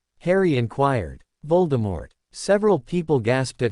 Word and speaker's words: Voldemort: "Voldemort Harry repeated, "Yes, I know, ridiculous," Kathy nodded. "It's French, meaning flight of death, and technically you're supposed to pronounce it with a silent T." Voldemort.